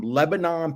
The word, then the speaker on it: Lebanon: mean it as being from there so it's pronounced Lebanon um leban which is yeah Lebanon there you